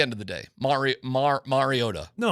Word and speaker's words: Mariota: Um, I think it's been said over the years like Marota. um which is incorrect and it's pronounced mariota. Mariota. Yeah. All right. Thanks, dude. So, the emphasis goes on the O mar first not may marota.